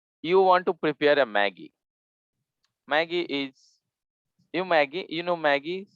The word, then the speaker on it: Maggi: We call it here not Maggie, but Maggi. It's pronounced in French.